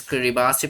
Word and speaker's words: Kiribati: This is Kiribati. Pronounce it Kiribati, but you write Kiribati.